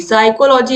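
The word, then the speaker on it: psychology: साइकोलॉजी आप बोल के देखोगे तो आपको लगेगा कि ये यस से शुरू हो रहा है, लेकिन शुरू किससे होता है? पी से। तो पी क्या है? साइलेंट है। चाहे साइकोलॉजी हो, चाहे फिलॉसफी हो, सब में पी नहीं। दोस्तों, यहाँ पर केवल साइकोलॉजी की हम बात करेंगे। तो साइकोलॉजी में क्या होता है? जो पी होता है वो साइलेंट होता है।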